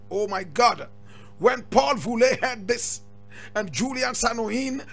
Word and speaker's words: Voulet: Now, Paul is just Paul, P-A-U-L, and Voulet is V-O-U-L-E-T. You say Voulet, correct pronunciation is Voulet.